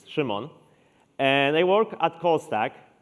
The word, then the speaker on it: Szymon: So I'm Simon, or if you are brave enough, you can try pronouncing it in Polish, which is Szymon.